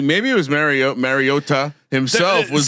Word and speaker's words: Mariota: Mariota himself was like tweeted out a video of Marcus Mariota pronouncing his own name and it sounds way closer. If anything, there's something he does slightly different on the a part, but certainly not the tu at the end.